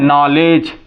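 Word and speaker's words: knowledge: बच्चे बोला करते हैं ये नॉलेज देखिए नहीं ये क्या है नॉलेज क्या कहेंगे इसको नॉलेज यहां यहां ये भी देखेंगे कि नॉलेज ये जी के पहले डी है साइलेंट है यहां एन के पहले जो है के है साइलेंट है इसलिए इसको नॉलेज बोलते हैं हम क्या बोलते हैं नॉलेज बोलते हैं इस तरह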